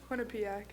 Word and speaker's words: Quinnipiac: Zoe, how do you pronounce that? Quinnipiac.